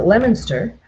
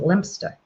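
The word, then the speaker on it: Leominster: Well, here we spell Here we pronounce it Lemonster and over there you spell You pronounce it Lemster.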